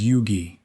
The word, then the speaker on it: Huger: Huger, unchanged on the page since the 17th century, comes out as Yugi.